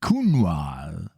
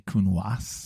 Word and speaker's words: Counoise: Do you pronounce the S at the end? I don't. I don't either. Because yeah. I try and be French. Yeah. I do. But I know you're not supposed to.